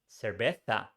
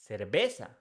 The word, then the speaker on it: cerveza: For example, with the word beer, they pronounce this word cerveza, whereas we in Colombia we pronounce cerveza.